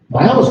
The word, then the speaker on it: Miami: Miami's not that big at the time. By the way, I'm pronouncing it the way native Miamians do. Miami. M-Y-A-A-M-A. Just by telling you the original spelling of the area.